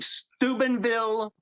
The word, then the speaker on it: Steubenville: But boy, I come from Steubenville, Ohio. That's where I was born in Ohio. That's how you say it.